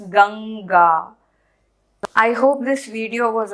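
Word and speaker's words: गङ्गा: write like this then they'll be pronounced as umkani gamga but that is not how it is pronounced it is so it has to be written like this it's not gamga it's ganga i hope this video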